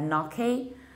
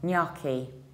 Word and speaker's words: gnocchi: York a although I first Americans have said naki by this super Kirk pronunciation is still knocky knocky in our last word that means a